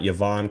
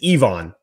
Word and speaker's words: Yvan: the road is not yavon kaju I'll raise my hand I've been messing that up for many months it is Ivon so the Y is pronounced like an e ion and then it's